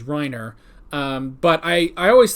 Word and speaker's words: Reiner: i think you know we have uh rhina instead of how it's spelled which is reiner um but i i